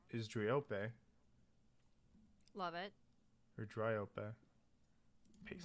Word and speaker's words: Dryope: It's Dryope.